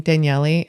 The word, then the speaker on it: Danielle: If you're wondering why I pronounce my name Daniellei, it's because I'm Brazilian.